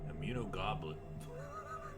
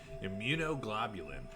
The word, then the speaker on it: immunoglobulin: Immunoglobin. Immunoglobulin.